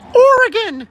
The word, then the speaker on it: Oregon: It's pronounced Oregon, you uncultured East Coast sewer rat.